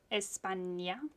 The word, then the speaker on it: España: You pronounce it like that. Yes, España.